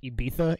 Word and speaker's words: Ibiza: So, I guess people in the UK like to call it Ibiza, even though it's spelled Ibiza with a Z.